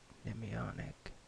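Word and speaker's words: mnemonic: to remember various tidbits of information so it's pronounced em ionic so silent him and as I said it's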